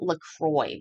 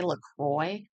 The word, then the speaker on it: La Croix: But I've heard people call it LaCroix before. Is that what you would say? LaCroix? That's not how you say it.